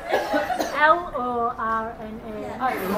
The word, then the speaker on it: Lorna: I not just say that spell it l o r n a l o r n a Lorna not even